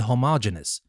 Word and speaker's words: homogeneous: But for heterero we pronounce the rest genius and for homo we pronounce the rest genus. So we say heterogeneous and homogeneous.